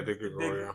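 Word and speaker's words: Di Gregorio: Yeah, De Gregorio.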